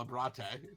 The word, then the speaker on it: Abrate: It's Italian. You spell it like you say it, right? As someone that has a Latin background, it 100% is spelled exactly like you're supposed to say it.